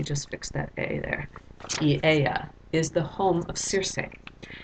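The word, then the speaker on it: Aeaea: This is pronounced Eieia. Let me just fix that A there. Eieia is the home of Circe.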